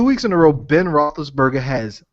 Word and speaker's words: Roethlisberger: So R-O-E Roethlisberger, Roethlisberger. What the F is the E there for, people?